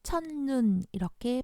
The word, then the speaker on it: 첫눈: 수도 있습니다 예를 들어서 첫 눈 첫 눈이지만 첫눈 이렇게 발음하지 줘 여기에서는 받침 소리가 t 긋 이었어요 그런데